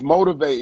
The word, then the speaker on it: MOT1V8: Yeah, it's Motivate. It's spelled MOT1V8. Motivate.